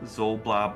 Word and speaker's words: Xoblob: Above the door hangs a sign whose elaborate letters spell out Old Zoblob Shop, and Zoblob is spelled Xoblob.